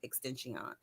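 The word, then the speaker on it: XXXTentacion: To do with have something to do with the overall murder of Extension.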